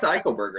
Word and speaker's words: Eichelberger: pronounce his last name michael burger i think is how come on you're the tv guy how do you pronounce that's bryce eichelberger that's right yeah all right i